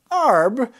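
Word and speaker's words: Arbre: giving us pronunciation hints arb is pronounced like arb with a little something on the end consult a french person for advice in a pinch arb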